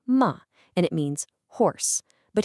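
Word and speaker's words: 馬: Next up, we have ma, pronounced ma, and it means horse.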